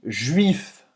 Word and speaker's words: juif: Juif, de novo. Tem esse biquinho. De novo, o biquinho. Faz a boca do U e fala. I. Agora você sabe. Juif. U, e depois tem esse I.